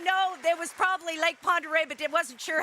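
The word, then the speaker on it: Pend Oreille: your last name uh lake ponderay oh like ponderay you're correct it is and you said it correctly how many of you up there know there was probably lake ponderay but it wasn't sure how to say it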